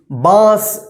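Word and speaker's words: बाँस: नंगा ठीक है जैसे बांस बांस तो देखिए बांस कैसे लिखेंगे बांस देखिए बास बा के ऊपर चंद्र बिंदु फिर यहां पे स बास देखिए इसमें थोड़ा सा नाक सा उच्चारण हुआ है और मुंह से उच्चारण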